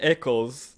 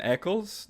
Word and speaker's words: Ackles: paddock it's pedalicky and jensen echols again his name is jensen eccles that's a whole butchering